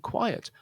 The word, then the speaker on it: quiet: The second one is a two-syllable word, quiet.